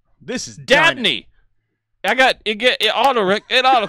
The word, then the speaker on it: Dabney: Maybe I read the name wrong. This is Dabney.